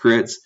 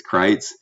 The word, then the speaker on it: Kreitz: i was super stoked i thought his last name was crits or pronoun pronounced kritz um i met him after the race apparently it's kreitz but uh for crit